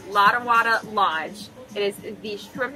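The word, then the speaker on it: Lottawatta: Lotawada. I said it right this time. Lotawada Lodge.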